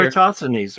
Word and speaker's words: Eratosthenes: Eratosthenes, right? Thank you. That's how you pronounce it.